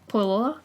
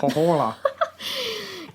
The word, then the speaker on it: Pohjola: to take Wainamoinen to Pohaja, or Pohaja? Anyways, Pohjola. It's spelled Pohjola. Sorry to all you Finnish people out there and everyone else that can pronounce that. Pohjola.